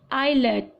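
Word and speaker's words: islet: और synonyms will be आइलेट, S again साइलेंट हो जाएगा, आगे फिर से एस साइलेंट हो जाएगा, आयल, एटॉल, किसे बोलेंगे?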